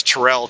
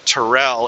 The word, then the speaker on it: Terrell: on how to pronounce Terrell, Texas. They were saying it's not Terrell, it's Terrell. Terrell, Texas. Instead of Terrell.